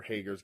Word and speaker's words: Hager: But it sets up Kingston versus Jake Hager, where Hager's going to take a big old L on a rampage. Yeah, you're not saying it right. It's Jake Hager.